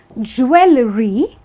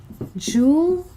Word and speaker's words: jewelry: So a lot of people actually end up saying jewelry, which is actually not correct at all. It's actually jewelry. Yeah, so that's how jewelry is pronounced.